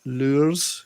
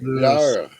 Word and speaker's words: leurs: Yeah, this is why I can't say words like lures, L-E-U-R-S. I can't say it because I can't roll my R's in that way. Oh, okay. Lure. Lures. No, the S is silent.